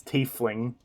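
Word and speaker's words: tiefling: you can be like it's it's teefling like an f it's a teeth and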